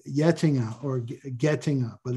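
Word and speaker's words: Getinge: he controls that he has another company called yetinga or getting up but it's pronounced yet dinger and it's a uh healthcare business but livko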